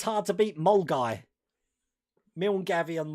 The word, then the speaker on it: Milngavie: Still think it's hard to beat Mulguy. Milngavie and Mulguy.